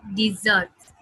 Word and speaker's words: dessert: Dessert, dessert में हम दो बार s का sound लेते हैं, एक बार z होता है और एक बार s होता है, dessert.